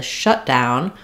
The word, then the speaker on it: shutdown: this case, the shutdown, we want to stress on that first syllable. So letter U says the sound. We have the sh for sh, and then letters ow say ow, the ow diphthong shutdown.